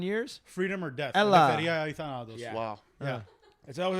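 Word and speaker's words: ελευθερία ή θάνατος: In Greek, it's eleftheria ithanatos. That's 9 syllables.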